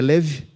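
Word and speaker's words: כלב: de um significado e Caleb que a pronúncia correta é leve tem um significado sabe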